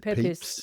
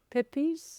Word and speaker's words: Pepys: Well, yeah, do you remember in the story, it kind of, I don't know how to pronounce his name properly. The Diary of Samuel, is it Pepys? Yes. Pepys? Pepys?